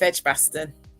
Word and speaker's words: Edgbaston: Yes, North Edgbaston.